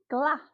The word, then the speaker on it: glass: Yes, glass. So this is a hard G because we've got U after glass. So we've not got E, I, or Y after the G.